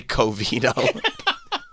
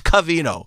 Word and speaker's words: Covino: Remember when anytime Covino and Rich were around, he would say Covino. Rich, I was listening to you and Covino yesterday. Thanks, Kenny. It's Covino. Yeah, I don't know why Covino was...